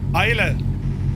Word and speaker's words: Islay: There's a dude that can't pronounce Isla. Isla.